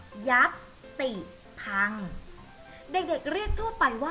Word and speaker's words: ยัติภังค์: ทาง การ ว่า ยัติภังค์ ยักษ์ ติ พัง เด็ก ๆ ออก เสียง ตาม แม่ ครู ค่ะ ยักษ์ ติด พัง เด็ก เรียก ทั่ว ไป